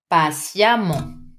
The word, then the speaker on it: patiemment: Patient, patiemment. Intelligent, intelligemment. Very careful with the pronunciation. Vous écrivez E-2-M-E-N-T. You pronounce this E as if it was an A. Intelligemment. Do not doubt. It's really an open A.